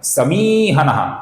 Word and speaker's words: समीहनः: यहां पर मी दीर्घ है दोस्तों, हमें इसका लंबाई से ही उच्चारण करना पड़ेगा। समीहनः ये गलत उच्चारण है, समीहनः ये सही उच्चारण है।